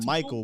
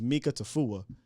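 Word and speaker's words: Mika Tafua: that up but but i kept calling him michael but it's like i'm sorry mika i'm sorry mika tofu but yeah i was saying it wrong see mikael right it's mika tafuwa uh and i called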